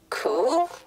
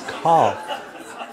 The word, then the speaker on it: cough: cool? Cow. It's cough.